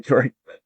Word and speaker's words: Jory: We've got Yori. Yori, go ahead and ask your question. Hey, thanks for giving me the opportunity to ask this question. It's actually pronounced Jory with like RJ. Sorry, Jory.